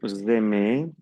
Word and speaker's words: aimez: Aquí no se pronuncia la S ni la Z. Aquí NT no lo pronuncio.